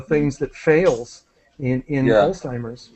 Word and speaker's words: Alzheimer's: uh a patient with alimer disease ah right uh the pronunciation is Alzheimer's Alzheimer's is the parties Alzheimer